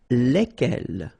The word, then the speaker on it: lesquels: All right, so final S is not pronounced. So here, when you get this L-E-S, okay, it's just like the article, if you remember, les. Okay, so it goes like lesquels.